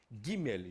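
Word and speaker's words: גימל: Essa aqui chama-se Gimel, representa um G. Gimel, G de gato.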